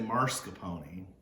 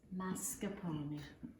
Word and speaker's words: mascarpone: no r and i want to say marscapone that's where people from saint louis who say george washington and stick an r in so don't say marsha pony mascarpone and if you want